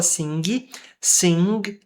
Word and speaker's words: sing: Sing é um G mudo. A gente não fala sing. Sing, sing. Tem um G, sim. Só que ele não é seguido de qualquer vogal.